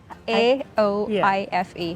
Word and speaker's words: Aoife: How do you spell it? A O I F E.